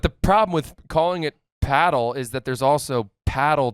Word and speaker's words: padel: Or are you the classier paddle kind of guy? Yeah. Good for you for saying it correctly because a lot of people would say padell.